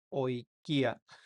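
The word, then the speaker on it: οἰκία: minúscula como nuestra minúscula y se pronuncia como una O, como en la palabra oikia, oikia. Eso significa casa en español, entonces se pronuncia oikia.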